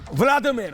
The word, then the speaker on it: वोलोदिमीर: और उस समय उनका एक राजा था, व्लादिमीर, वोलोदिमीर कहते थे, अलग अलग प्रोनाउंसिएशन है।